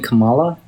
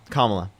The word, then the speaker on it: Kamala: Kamala. Kamla.